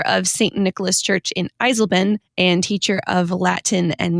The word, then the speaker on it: Eisleben: Eisleben. You're right. Everyone can call out my terrible German pronunciation today.